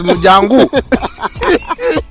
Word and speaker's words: Mjango: I'm telling him that is pronounced as Mjango. Mjango, because how do you pronounce mongoose, my friend?